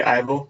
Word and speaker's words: Yvel: I would say Ivel, but yeah. Yeah, I don't know how to pronounce his name. Sorry. It's okay. I'd say Ivel as well. Oh, no. Now that you do say it, I'm beginning to remember. Yeah, it is totally Eiffel.